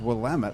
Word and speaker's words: Willamette: Emmett I always thought that was Willamette yes pronounced Willamette okay we've learnt something today okay yep and